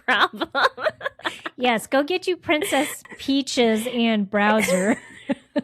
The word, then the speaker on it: Princess Peach: Princess Peaches. Go get her. You didn't even say it right. It's Princess Peach.